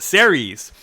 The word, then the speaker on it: Ceres: There's a dwarf planet, I think it's pronounced Ceres, that might have water.